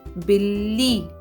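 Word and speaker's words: बिल्ली: is half and the other is complete so Billy Billy dog is known as now here the pronunciation of tea is not the but the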